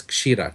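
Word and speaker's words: क्षीर: looking at that meant breast milk was uh pronounced as Kira KS h i r a now I didn't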